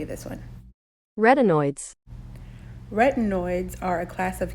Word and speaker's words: retin: it this is how you say this one rtin retinoids are a class of chemical compounds related